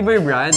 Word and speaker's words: Bear Brand: Hindi bear brand. Ano bear brand? Ano? Bear brand. Gan tamang pronunciation. Bear brand.